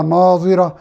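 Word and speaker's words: ناظرة: سے بہت اہم ہے۔ پہلے ناظرہ ضاد کے ساتھ ہے اور دوسرا ناظرہ زوا یعنی زوئے کے ساتھ ہے۔ دونوں کے معنی،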